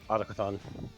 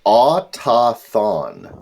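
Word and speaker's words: Autochthon: It's Chthon, meaning underground from Greek, and then Auto, so Autocathon. The pronunciation guides in the book are autothon without the CH sound. And I know that's wrong.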